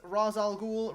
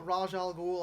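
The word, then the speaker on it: Ra's al Ghul: that liam neeson as razal ghoul raj al ghul however you prefer to pronounce it i actually liked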